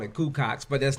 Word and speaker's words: Cuco: It's Cuco. It's CU-CO. And then there's an X behind it. Taz like to call it Cucox, but that's not how you pronounce it.